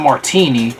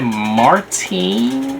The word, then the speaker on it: Martine: It's not Martini, because I know what Martini is, but she said Martine, like a feline that